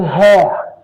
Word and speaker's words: hair: um it is a hair a hair strand Keep in mind the difference in their pronunciation. This is a hair. Here, the the H is pronounced.